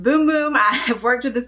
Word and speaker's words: Bum Bum: boom-boom cream it smelled bum bum it is but in Brazil it is pronounced boom-boom I have worked with